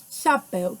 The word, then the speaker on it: chapéu: Chapéu, que é escrito com acento agudo, já tem um som mais aberto.